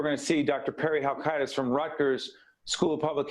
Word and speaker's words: Halkitis: So Perry, I mean, Dr. Halkidis, right? That's how you say his name.